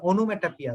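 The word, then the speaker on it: onomatopoeia: সো অনুমেটাপিয়া বানানটা এই জন্যই আসে, প্রথমে আসে অনুমেটো, তারপর হচ্ছে পিয়া, এটা উচ্চারণ হয়ে যায় পিয়ার মতো।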